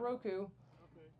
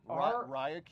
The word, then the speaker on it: Ryoko: No, No. not Roku. It's Ryoko.